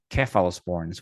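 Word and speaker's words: cephalosporins: on the podcast and they they they pronounce seal sporns keal sporns with a K yeah yeah I have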